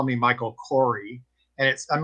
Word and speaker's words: Kouri: name is Kouri, like the spice.